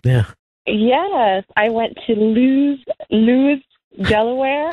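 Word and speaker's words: Lewes: I went to Lewis, Delaware. How could you not say Lewis, Delaware? Because the way it's spelled, it confuses people. It's like, is this Luz?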